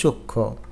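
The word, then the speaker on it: সূক্ষ্ম: না এটার উচ্চারণ শ্রীতি যুক্ত ব্যঞ্জন বর্ণের ম ফলা উচ্চারিত হয় না যেমন সূক্ষ এখানে খিয়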